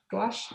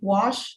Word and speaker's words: gouache: mess up saying it i think that's how you say it right gouache i think so i don't i think i've heard the other artists think wash and i've heard like other things but i don't think